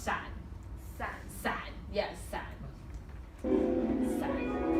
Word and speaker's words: 伞: So this is the word for umbrella, and it's pronounced san.